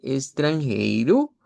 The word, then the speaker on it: estrangeiro: La palabra eh de extranjero, extranjerirla con u al final. Extranjiru para que suene con el acento portugués de Brasil.